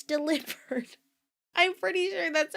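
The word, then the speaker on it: Delibird: I've been saying this Pokemon is Deli Bird and then I saw a Tik Tok where somebody was like, "Guys, I'm pretty sure it's actually pronounced delivered because it it's the delivery Pokemon.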